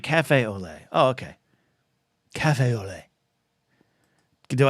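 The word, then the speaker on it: café au lait: that Aiden uh Scotty says say it like Cafe Olay oh okay Cafe Olay do I have do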